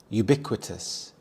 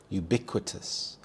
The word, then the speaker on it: ubiquitous: Ubiquitous. Ubiquitous. The stress is on the second syllable. Bick. Ubiquitous. This means when everything seems to be everywhere at the same time.